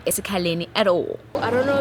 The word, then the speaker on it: eSikhaleni: White people failed to pronounce eSikhaleni and said eSikhawini.